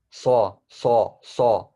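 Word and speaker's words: صاد: that even more heavier so instead of saying saw I saw that guy say make your uh tongue be at the side of your teeth it's very heavy and then just add a d at the end so I okay so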